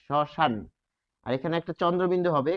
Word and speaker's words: শ্মশান: তাহলে শব্দের আদিতে রয়েছে তালব্য সহসন্ত যোগ ম তাহলে শব্দের আদিতে থাকার কারণে এটি কি হবে উচ্চারণে আমরা দেখব যে সে উচ্চারিত হবে না ফলে সান এই উচ্চারণটি হবে সশান আর এখানে একটা চন্দ্রবিন্দু